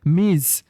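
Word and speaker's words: Ms: এছাড়াও ইউজ ব্যবহার করা মিজ যার প্রোনাউন্সড অর্থ উচ্চারণ হবে এম আইজেড মিজ ওকে অর্থাৎ আমরা বলতে পারি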